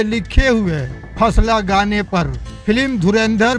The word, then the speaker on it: फसला: जैसा कि मैंने पहले बताया, इस ट्रैक का टाइटल किसी कोड जैसा लगता है जिसे अंग्रेजी में फा9 ला लिखा जा रहा है, लेकिन इसका सही प्रोनाउंसिएशन फसला है और इसका लिटरल मतलब होता है मस्ती का वक्त या धमाल का टाइम।